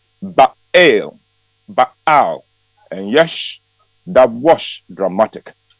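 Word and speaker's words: Baal: Showdown with the prophet of B that is pronounced ba ba and yes that was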